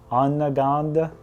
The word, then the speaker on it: Onondaga: So this next cave, I have no idea how to pronounce, so I'm gonna need some help. What is it? Onondaga.